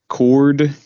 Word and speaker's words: Corduroy: But if you think of it in 3 syllables, it's cord, the letter U, and Roy.